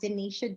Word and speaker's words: Dinetia: my name it's at Denisha Dean and Denisha is spelled like Scotia so it's d-i-n-e-t-i-a-d oh